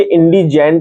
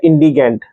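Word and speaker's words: indigent: लीजिए इंडिगेंट है ना, ये इंडिजेंट या इंडिगेंट दोनों में से कुछ भी प्रोनाउंसिएशन आप पढ़ सकते हैं, ठीक है ना।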